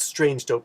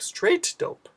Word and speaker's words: Straight Dope: And then he made a response to the Angry Canuck, and his name is not Strange Dope, Straight Dope, and it's spelled with a 0 OP.